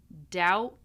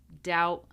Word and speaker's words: doubt: This is the silent B. So we do not pronounce the B in any of these words. We have climb, numb, womb, comb, lamb, debt, doubt, subtle.